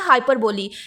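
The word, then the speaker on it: hyperbole: ये होता है हाइपरबोली। एक चीज आपने यहां पे कंफ्यूज नहीं होना। एक होता है हाइपरबोला। वहां पे लास्ट पे ई की जगह पे ए होता है। यानी ये स्पेलिंग है एच वाई पी ई आर बी ओ एल ई।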